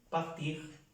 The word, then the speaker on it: partir: Todos los verbos que terminan en IR se pronuncia la R.